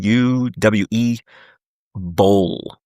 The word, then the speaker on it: Uwe Boll: Citizen Vigilante, that is a European, I believe it's a German film by director Uwe Boll, I believe his pronunciation, U-W-E, Boll, Uwe Boll, and starring Armie Hammer as the Citizen Vigilante, which is really dividing people.